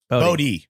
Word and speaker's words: Bode: Is it Bodie or Bode? Bodie. It is Bodie.